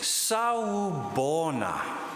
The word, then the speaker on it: sawubona: So the word is sawubona. So shall we, I'll break it up in syllables. It's sawubona.